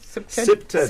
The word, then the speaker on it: CPTED: CPTED is how it's pronounced, yes. CPTED. But you're right. It stands for Crime Prevention Through Environmental Design.